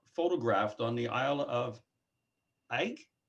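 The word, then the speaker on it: Eigg: Bob Giles is asking, have you photographed on the Isle of Egg? Isle E-I-G? of Egg. Egg. Egg. E-I-G-G. Is that how it's spelled? E-I-G-G. Yes, that's what he's spelling.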